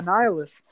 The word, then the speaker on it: Annihilus: Yeah, Annihilus.